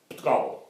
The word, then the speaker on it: Portugal: Portugal, Portugiesisch ist vermutlich die einzige Lingua, die den Namen Portugal einsilbig pronuncieren kann. Portugal.